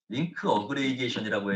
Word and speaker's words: LAG: 오토 트렁크 기능이 있고요요 용어는 이제 렉이라고 읽으시면 안 되고 링크 업그레이게이션이라고 해서 스위치와 스위치의 네트워크